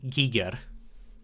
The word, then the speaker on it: Giger: name is Hans Rudy Giger it's not pronounced Geiger it's Giger it's